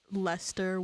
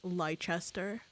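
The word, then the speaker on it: Leicester: Yeah, because I thought it'd be like you know how for a bit I thought Lester was pronounced Lychester.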